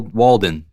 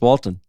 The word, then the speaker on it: Walton: what's his name wal Walden really Isaac Walden I think it's Walton Walton Isaac Walton right yeah is it ISAC